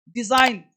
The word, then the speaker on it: design: डिजाइन, रचना। देखो एम के पश्चात एन साइलेंट रहता है।